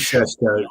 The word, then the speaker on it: Šeško: I think he pronounced it Šeško. It is Šeško.